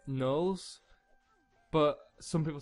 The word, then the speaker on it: gnolls: it, and I say gnolls, but some people say gnolls and people say other things, but I've always called them gnolls, and just kind of like the G is silent, like in gnome.